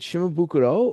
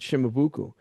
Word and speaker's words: Shimabuku: Pat McCarthy asked him, Sensei, is it Shimabukuro or is it Shimabuku? And his response was, it's Shimabuku. I'm Okinawan. That's exactly what he Mm. said. So again, Right. the Right. Japanese pronunciation of Shimabuku is Shimabukuro. Right. He Right. doesn't want that.